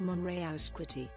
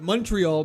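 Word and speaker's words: Montréal: Haha, it's French and pronounced Monreality. I apologize. The Englishspeaking Canadians in Canada call it Montreal, but you are right.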